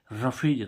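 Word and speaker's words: roughage: जीी एच ए जी रफेज रफेज means क्या होता है चारा अब देखो यहां पर यूजी एच यूजी एच का उच्चारण क्या हो रहा है फ हो रहा है क्या हो रहा है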